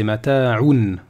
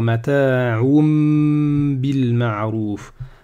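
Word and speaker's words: متاعٌ بالمعروف: Sauf qu'il y a une règle de tajwid. Vous voyez, il y a un mime ici, il y a un mime qui nous dit que on doit prononcer un mime ici. D'accord? Donc on va dire mata'um bil ma'ruf.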